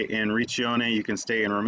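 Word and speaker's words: Riccione: was just up here in reach yone I believe is how they say it so we were right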